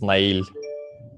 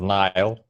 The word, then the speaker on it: Nail: So I have alternative pronunciation as Nile, as like it's my nickname on the internet just to make it easier to pronounce. So yeah, any of these two, and Neil, it works as well for me.